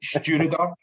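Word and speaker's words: Stiùireadair: But it is Stewarder. And Stewarder is Gaelic and it means helmsman. So there's a helmsman on, here we go, here's Stewarder.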